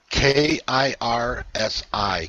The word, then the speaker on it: Kirsi: K-I-R-S-I, 𝗂𝐚𝐧𝐧𝐞𝐥𝐢𝐧𝐠. Kirsi. Yes. Yes, Kirsi. That I understand more now. I knew that that wasn't the right pronunciation.